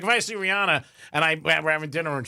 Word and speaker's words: Rihanna: Rihanna is not, they said, is not, in fact, pronounced Rihanna. It's Rihanna. But nobody's going to go back to the way they want it.